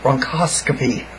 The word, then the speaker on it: bronchoscopy: pulmonologist to do a bronchoscopy it spelled like a broncoscopy but it's broncoscopy that's how it said um so I went